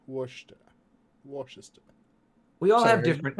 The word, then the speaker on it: Worcester: the next nine years did did you say Chester or did you mean Worcester it's Worcester Worcester Washington we all have different accents I'm American